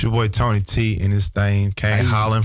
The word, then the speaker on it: Toeknee Tee: So it's your boy Tony T. If you're reading it on the letter, it's told it's how they say it, anatomical. It's told in the knee together.